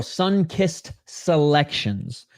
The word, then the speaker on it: Sunkissed Selections: your Friday going sir sorry it's plural Sunkissed selections I always pronounce that last part of your name um singular it's plural 1 minute 49 seconds